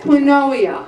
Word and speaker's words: quinoa: Anyone ever had quinoa?